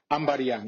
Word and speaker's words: Ambadiang: Christian Ambadiang, is that the right way to say it?